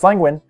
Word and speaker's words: Lenguin: That's Lenguin, as in Lenguin the Penguin.